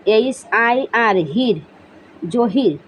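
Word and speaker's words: Jahir: জহির Uddin, জহির Uddin, J এ এইচ আই আর, হির, জহির, জে এ এইচ আই আর, হির, জহির।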